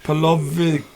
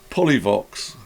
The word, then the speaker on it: Polyvox: We're very good at pronunciations, us. Yes. Oh my goodness. Yes. Polovic. Yeah, I'll let you do that then. This is going to be the Behringer Polyvox.